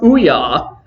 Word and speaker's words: OUYA: to pronounce it, and it is pronounced OUYA.